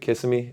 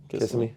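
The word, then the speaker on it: Kissimmee: was in Orlando Florida was it Kissam me is how you pronounce it yeah kiss me yeah and I'm sitting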